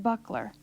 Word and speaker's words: buckler: There are 2 syllables in the word buckler. Buck-ler.